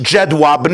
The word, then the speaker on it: Jedwabne: It's pronounced in English Jedwabne. I believe in Polish it's Wedwabne.